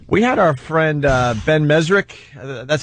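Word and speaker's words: Mezrich: We had our friend Ben Mesrick.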